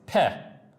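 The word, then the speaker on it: פ: Now the word pei, the letter pei, which is this, is pronounced peh, which I'm just writing in English, peh, which means mouth.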